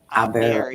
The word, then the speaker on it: Iberia: I can't pronounce that name. New It's Labrinia. new Ibera. Iberia. Oh, Iberia.